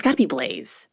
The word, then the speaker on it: Blaise: Blaise. It's got to be Blaise.